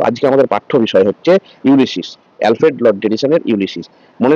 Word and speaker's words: Ulysses: যদিও আজকে আমাদের পাঠ্য বিষয় হচ্ছে ইউলিসিস।